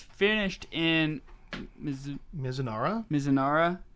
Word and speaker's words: Mizunara: Mizunara. That's our Japanese pronunciation.